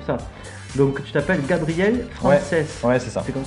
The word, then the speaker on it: Francès: Donc tu t'appelles Gabriel Frances. Ouais, c'est ça. C'est comme ça qu'on prononce ton nom.